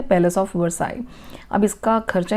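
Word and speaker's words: Versailles: आई कहते हैं उसको ल नहीं प्रोनाउंस होता है पैलेस ऑफ विवर्स आई अब इसका खर्चा ही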